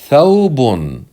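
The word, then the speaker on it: ثوبٌ: Thawbun. Thawbun. And the waw here is not a long vowel. It's a genuine letter that's pronounced with a sukoon.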